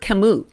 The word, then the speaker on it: Camus: world that was by albert camus oh what an inspiration it rhymes with namu the killer whale that had a rough